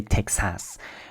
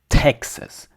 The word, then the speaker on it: Texas: So you say Texas because it ta. So the emphasized vowel is the first one. In French that doesn't matter. There's almost no word stress. Um, for all intents and purposes in French, there's no word stress. So, we say it in a way that's kind of flat. Tas. Uh, but we say the vowels fully.